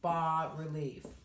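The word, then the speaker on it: bas-relief: there's low relief and that is called ba but it's spelled bas so you'll often see so low relief is called ba relief in art and you'll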